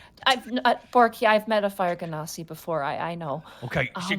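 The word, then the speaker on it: Genasi: I say Genasti because they're kind of like genies.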